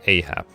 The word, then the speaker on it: Ahab: have to worry about Ahab did I did I say it right this time yeah yeah you said it right yes I'm certainly that